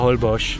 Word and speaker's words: Holbox: isla holbox - willkommen auf der Insel Holbox so wird es zumindest von den einheimischen ausgesprochen geschrieben jetzt holbox liegt